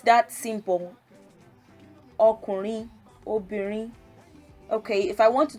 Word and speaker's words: obìnrin: Obìnrin, re do re.